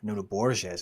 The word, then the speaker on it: Nuno Borges: Yeah, so he'd drawn against Nuno Borges, or Nuno Borges, I should say. That's how it's pronounced.